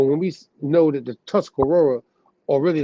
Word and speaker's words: Tuscarora: there's a seven but the sixth though is Tuscarora and out of the five that most people